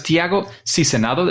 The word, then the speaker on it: Tiago Sizenando: Let's go, because Tiago Sizenando, is that a good pronunciation?